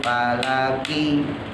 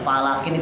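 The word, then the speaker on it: فلك: waun waun waun Fi falaki falaki itu pendek ya hati-hati Banyak orang baca Yasin tuh falakin dipanjangin fqi Nah itu lanya panjang tuh salah fiaqi pendek fialaqi bukan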